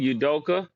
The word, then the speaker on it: Udoka: like what how you say his name again udoka yep that's it yeah I got it right